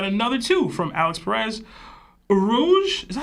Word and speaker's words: Urouge: Urouge. Is that how you say it? I always forget. They in Japanese they go Urouch. Urouge.